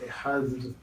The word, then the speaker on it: Ehad: Si on prononce bien, bien, non, c'est Ehad, ou Adonai.